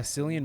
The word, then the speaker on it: Cillian: Yeah, Cillian Murphy.